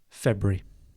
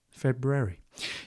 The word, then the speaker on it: February: But yeah, February. If you want to sound like my wife, February.